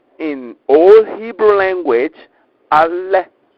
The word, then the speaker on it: Aleph: A, correctly pronounced in Old Hebrew language, ALEPH. ALEPH.